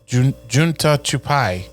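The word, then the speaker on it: जूता छुपाई: Junta J all right I'm gonna let you pronounce it j-o-oota c-h-u-p-a-i unta chupai yeah that's what you said yeah I think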